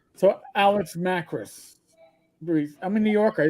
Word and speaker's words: Macris: Most people do Macris. It just, my father always said it was Macris, so that's how I pronounce it.